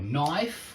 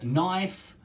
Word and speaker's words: knife: is knocking yeah with you don't pronounce the k I want to remind